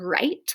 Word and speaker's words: write: WR, the W is silent, so it just says like in the word write, like I'll write you a letter.